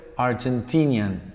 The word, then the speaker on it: Argentinian: Y el adjetivo es Argentinian, Argentinian. No pierde el acento, la palabra, ¿verdad?